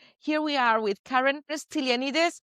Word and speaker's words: Stylianides: Here we are with Karen Stylianides. How do you pronounce it? That's exactly right. Stylianides.